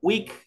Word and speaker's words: week: Tenemos la doble E. Esta doble E, el momento de pronunciar, se transforma en ¿qué? Se transforma en una I, solo al pronunciar. Entonces yo digo week, week es semana.